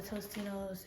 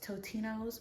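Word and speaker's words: Totino's: I also have a Tostino's pizza. I know it's pronounced Totino, but for my entire life, I've pronounced it Tostinos.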